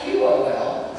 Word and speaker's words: Qol: This is the Qol Quartet, and it's spelled Q-O-L, but you pronounce it Qol.